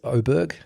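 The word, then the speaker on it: Åberg: was really impressed is oberg it's it's spelled aberer but apparently they pronounce it oberg ludvig so he's the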